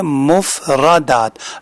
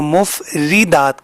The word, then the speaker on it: مفردات: اس کا صحیح تلفظ کیا ہے؟ مفردات. را کے اوپر زبر ہے. بعض بہن بھائی اس میں غلطی کرتے ہیں اور اس کو مفردات کہہ دیتے ہیں، جو کہ ٹھیک نہیں ہے.